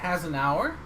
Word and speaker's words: Hasenuar: Hasenuar. Now I know how to pronounce the show how to pronounce your name if I'm ever hosting.